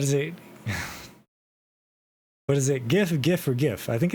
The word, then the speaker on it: GIF: Is it GIF or GIF? It is GIF.